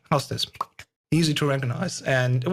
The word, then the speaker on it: Hau5test: i'm writing houses hau5 but um it was you know two syllables very just memorizable so you could just say how's this easy to recognize and